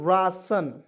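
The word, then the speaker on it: ration: एन इसे पढ़ेंगे दोस्तों रासन आर ए टी आई ओ एन क्या पढ़ेंगे दोस्तों रासन देखिए आर ए से लिखेंगे रा और टी आई ओ एन को सन पढ़ते हैं तो क्या हो जाएगा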